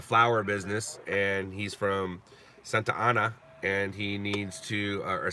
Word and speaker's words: Santa Ana: it's pronounced Santa Ana look it's two words she goes yes Santana